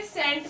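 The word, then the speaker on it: scent: चल रहा है ना सी ई आया है तो यहां पे सी साइलेंट ट हो गया है ये सेंट पढ़ेंगे इस सेंट का मतलब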